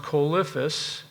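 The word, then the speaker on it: Coelophysis: you a dinosaur graveyard this is this is pronounced chifus it's a small dinosaur like veliseraptor and they're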